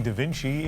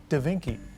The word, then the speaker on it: Da Vinci: Canadian twins not knowing who painted the Mona Lisa and turning Da Vinci into Da Vinci. Perhaps a simple mispronunciation, but a mistake that millions have now seen online.